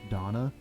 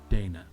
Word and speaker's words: Dana: brought her to Hollywood because she is effectively German her name is pronounced Donna not Dana her husband was Rett